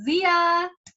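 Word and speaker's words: Xiya: launched and it's called zia well that's what my husband told me it's called zia it's spelled x i y a and you should totally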